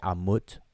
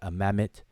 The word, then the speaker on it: Amamet: Some people say Amut or Amit, etc. Amamet. Different ways people pronounce it today, but it means to eat or to devour.